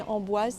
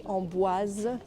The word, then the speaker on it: Amboise: the beautiful city of ombuaz in the loire valley remember to pronounce the s in ombuas there is an e at the end so you have to say ombuaz so my plan is